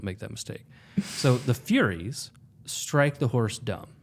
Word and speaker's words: Furies: And then probably more telling, assuming I'm not reading too much into it, is that then the Furies, not to be pronounced as furries, which would highly change the meaning of that passage, right?